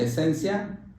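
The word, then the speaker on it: essentia: una esencia que también la palabra esentia se pronuncia esencia la la la palabra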